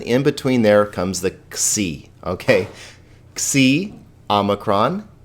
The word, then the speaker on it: xi: Now, xi is just one of those weird letters. It actually has like an X sound.